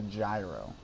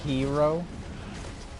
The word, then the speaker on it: gyro: That's supposed to be pronounced hero.